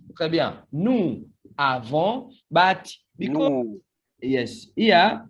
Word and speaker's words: nous avons: And here it starts with the A, so the sound here will be Z. So we are going to have Z sound, and it will be pronounced like this. Nous avons.